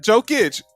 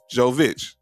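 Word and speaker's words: Jović: joe joe vich yeah so not joe kitch joe vich just want to brought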